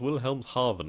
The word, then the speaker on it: Wilhelmshaven: It is actually pronounced Wilhelmshaven, I believe.